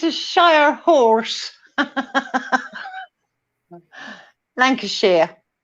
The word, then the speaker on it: Lancashire: Okay, sorry. We say Shire. Lancashire. You always pronounce the shires. Yes, we like it's a shire horse. Like it's a shire horse. Lancashire.